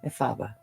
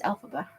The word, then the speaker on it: Elphaba: Efalba. That's not how they say it on the stage, I know. is it? No. It's Elphaba. From Wicked.